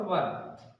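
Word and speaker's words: where: अगर दूसरी बात करें वाज और वर, हम आपको बता दें किससे वर पढ़ा जाता है, वेयर नहीं पढ़ा जाता। अगर वेयर से पढ़ लोगे तो इससे क्या पढ़ोगे, वेयर, वेयर नहीं पढ़ा जाता क्योंकि एच साइलेंट होता है, तो हम वेयर नहीं।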